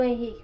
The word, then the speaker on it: Henrique: E o nome do Henrique com H. Você já pode até trabalhar com eles que o H ele é mudo, né?